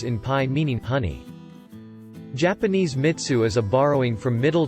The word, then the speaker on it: mitsu: Check this out though, the Japanese word, well, maybe it's a bound morpheme, for honey is mi, typically cubed pronounced as mitsu, or mitsu.